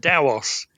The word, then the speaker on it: TaOS: It's pronounced TaOS.